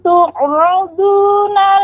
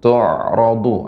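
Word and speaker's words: تُعْرَضُونَ: Pertama, Ibu, tu'radu ain ya. Ketika dia sukun, dia tidak tertahan, tidak syiddah namanya, tidak ya, namun pengucapannya ya tawassut bainiyah ya, yauma idzin tu'radu ya, itu dia.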